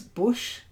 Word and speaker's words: bush: Nina your feedback was Bush not like brush Bush read fowl bear